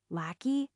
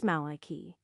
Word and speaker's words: Maliki: So, Lackey, have anything to say for yourself? It's Maliki and it's not even pronounced like that.